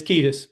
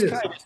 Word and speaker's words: Kiedis: It's Ketus. It looks Kitus, but it's Ketus.